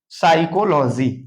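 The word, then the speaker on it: psychology: word नहीं होना चाहिए एस के पहले एस से पहले आया हुआ प साइलेंट हो जैसे यहां देखेंगे सस तो इसको हम पढ़ेंगे क्या साइकोलॉजी देखेंगे साइकोलॉजी पी साइलेंट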